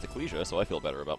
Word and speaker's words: Ecclesia: Dracula well that confirmed that it is actually pronounced eclesia so I feel better about myself yep the